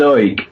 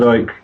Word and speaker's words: Icke: David Icke, if you say his name fast, sounds like Davidic.